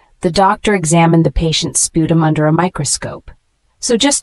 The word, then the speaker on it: sputum: from twisting or pulling the word sputum spu tuu m is a noun pronounced like this spum sputum is a mixture of